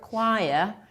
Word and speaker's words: choir: That's a tricky question because the word choir is usually mispronounced by most of the students. So CH here stands for K.